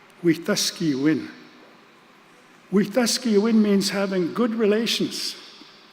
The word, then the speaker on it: Wetaskiwin: The name of that city is sometimes, unfortunately, mispronounced. People know it as Wetaskiwin. It's actually a Cree word, Wetaskiwin.